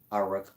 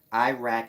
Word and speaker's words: Iraq: eric i mean iraq iraq is pronounced iraq like you are uk the sumerian way supers ancient zuma they have the place called arak you are uk iraq is pronounced like that air iraq same place